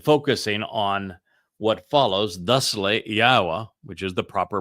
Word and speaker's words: Yahowah: a transition and focusing on what follows thusly Yahwa which is the proper pronunciation of Yahwa our elawah god as directed by his Torah teaching regarding his high existence and our shalom restoration.